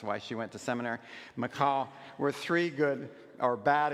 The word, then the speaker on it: Michal: do you pronounce that How do you pronounce it to distinguish that from the the male name Michael? Misha? Mhm? They call Michal. Okay, the Hebrew pronoun very good.